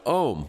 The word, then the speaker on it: Ome: I wanted to invite you on to the program to talk to us about Ome, which is spelled O-M-E, so it's like home without the H.